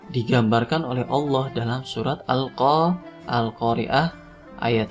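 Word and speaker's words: القارعة: Al-Qari'atu mal Qari'ah, ya. Jadi kalau misalkan diwasal atau dilanjut bacanya, huruf belakangnya dibaca. Al-Qari'atu mal Qari'ah. Kalau tidak diteruskan, ya, cukup diwakafkan.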